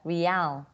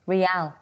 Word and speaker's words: real: Brazil mình sẽ không đọc là bình thường chữ này mình đọc là real, đúng không? Real, đúng không? Nhưng mà mình sẽ không đọc như vậy, mình đọc là real. Cái tên của tiền tệ đó là như vậy ha.